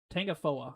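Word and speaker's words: Tangipahoa: Poa I think it I think the A is silent. Yeah, Tangapoa I think that's how you say that.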